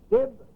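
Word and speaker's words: DYB: It is, as you heard just now, dib, dib, dib. It is spelled D-Y-B.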